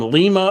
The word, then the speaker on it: Lima: Anybody that's not from here mispronounces it. It makes me mad. Me too. The ring announcer said from Lima, Ohio, and we hate that around here. It's Lima in Peru.